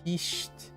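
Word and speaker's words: whisht: First H is silent. Oh, hisht. Wait, do you pronounce the last T too? Hisht. It sounds kind of like hissing with a sharp T to make it sound like you mean it.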